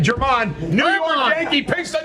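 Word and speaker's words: Germán: I think that's how you pronounce his name. German. New York. My bad, German.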